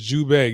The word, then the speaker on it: Zhubei: This is Zhubei. You spell it z h u b e i or z depending on who you're talking to.